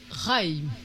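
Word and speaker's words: חַיִּים: Il y a deux yodes. Ah, mais il faut prononcer les deux yodes. Raïm. Im. Raïm. Alors, le premier yod, c'est une consonne. Ouais. Alors, pas. et le deuxième yod, c'est une voyelle.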